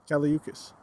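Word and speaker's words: Kali Uchis: How do you say your name? Caliuchis. I fucking hate when people say Uchi.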